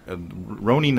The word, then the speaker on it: Ronin: Is it Ronin or Ronin? Ronin is how they pronounce it, so that's how I choose to pronounce it. Right, but it's spelled Green Ronin. But I think in Japanese it would just be Ronin.